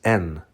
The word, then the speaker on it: Н: This letter looks like a backwards N. In Ukrainian, this letter is pronounced Y.